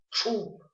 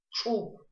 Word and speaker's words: Чуб: При чтении этой буквы звук образуется от буквы Ш путем округления губ. Кончик языка касается передней части твердого неба. Давайте попробуем произнести правильно. Чуб. Чуб.